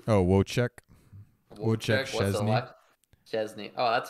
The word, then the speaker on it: Wojciech: Wojciech. Oh, Wojciech.